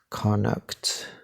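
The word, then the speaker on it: Connacht: this is pronounced uh conduct like kind of like connect but connect like uh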